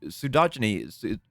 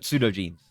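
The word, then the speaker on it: pseudogenes: result, genes that would normally have stayed sud sudogyny pseudo pseudo jeans that that's what it says.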